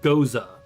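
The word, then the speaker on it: Gose: Goa. Pronounced Goza. Okay. pronounced it goza, but it's watermelon and it's really sour.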